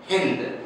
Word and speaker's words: हिंद: क्योंकि यूनान प्रदेश से जो भी आक्रमणकारी या फिर यात्रीगण जो भारत पधारते थे वह श का उच्चारण ह से करते थे। चूंकि ये प्रदेश सिंध है तो स की उच्चारण ह से हो रहा है, तो शिन से बदलकर बन गया है हिंद, और यहाँ की लैंग्वेज हो गई है हिंदवी।